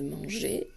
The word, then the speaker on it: mange: Alors ici, attention, hein, on voit bien que c'est la lettre G qui fait le son j, parce qu'il y a le E placé juste après.